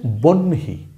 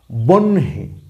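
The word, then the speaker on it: বহ্নি: পেরেছেন বা পারতেছেন না এই শব্দটি হচ্ছে বনহি বনহি এখানে বয় সংযুক্ত ন রসিকা বানানটা কি বয় সংযুক্ত ন রসিকা বনহে এখানেও সেম আমরা যে যুক্তবর্ণটা দেখতে পাচ্ছি সেটা হচ্ছে হ যোগ নূন্য দন্ত হ যোগ দন্ত ন মিলে হইছে এই বর্ণটা ওকে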